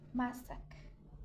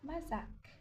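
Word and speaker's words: masaka: Pour le S, se prononce toujours S, comme S. On garde le son S. Alors, prenons par exemple Sasan, Sasan, Masak, Masak, et non pas Sazan, et non pas Mazak. C'est Masak, Sasan, Sasan, Masak, Masak.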